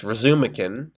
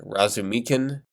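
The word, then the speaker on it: Razumikhin: There is Razumakin, or is it Razumikin? I think it's the latter. I always pronounced the former in my head.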